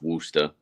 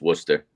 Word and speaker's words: Worcester: worcester what's the mass it's worcester it's not pronounced wooster it's worcester worcester can i get that